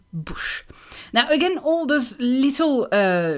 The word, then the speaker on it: bouche: And then she's also adding a letter to the word bouche. She's saying blouche, blouche, when the word is bouche.